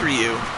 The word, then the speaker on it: Ryu: I somehow pronounced Ryu for some reason. Well, it is Ryu.